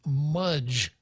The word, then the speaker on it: Mudge: the article here says Dr Gilbert Mudge rhymes with fudge BCG chairman states in